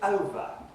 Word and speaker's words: over: Very simply, the first word has got 2 syllables, and it's over. Now, it's the first syllable here which has the primary lexical stress. It's longer, louder than the second syllable.